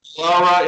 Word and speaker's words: Elara: They released their debut single, Elara, am I pronouncing that right? Yes, sir. Elara in August, and followed it with the single Old Soul in October.